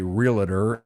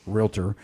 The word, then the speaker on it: Realtor: you know the term it's a it's a two-syllable word a lot of even agents want to say realtor it's not it's realtor and basically you have